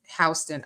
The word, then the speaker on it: Houston Street: There actually is a street in New York called Houston, and some people say Houston Street, but it's pronounced Houston.